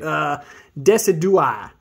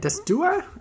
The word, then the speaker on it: Decidueye: I want to try to pronounce it, Decidueye. Decidueye, right? Decidueye?